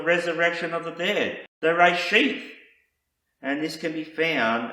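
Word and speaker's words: רֵאשִׁית: found in this first word of Hebrew is pronounced reshith, and it means first fruits. And the Messiah Yeshua referred to himself as the first fruits of the resurrection of the dead, the reshith.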